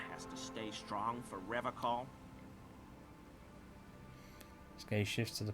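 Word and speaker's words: Revachol: He pronounces Revacol with a hard K, unlike other people. Serious question time. This man is no innocent. No one is. You said Revacol?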